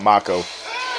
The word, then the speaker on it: Mako: They call it Mako, which I always thought it was pronounced Mako for the longest time, because the only thing on this earth that I know that's spelled like that is a Mako shark, right?